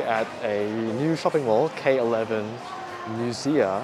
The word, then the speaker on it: K11 MUSEA: So we are actually at a new shopping mall, K11 MUSEA, I think that's how you pronounce it.